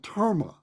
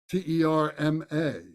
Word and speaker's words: terma: They were called terma, T-E-R-M-A, terma.